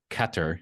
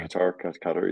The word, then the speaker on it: Qatar: The monarch of Qatar, you told me that's how you pronounce it. Yeah, Qatar, yeah.